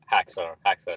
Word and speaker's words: Haxor: Next up, Haxor, how should I pronounce? Haxor is good.